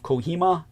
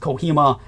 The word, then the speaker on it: Kohima: east and that would be the battles of Kohima and Impal. These are spelled K O H I M A. And Impal is spelled I M P H A L.